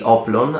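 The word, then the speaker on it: hoplon: On the other hand, the Spartan, as you can see, the oblon, and I am not pronouncing the H here on purpose because I'm using the Greek word.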